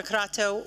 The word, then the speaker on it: Crato: I have to say that your Portuguese pronunciation of my name is impeccable.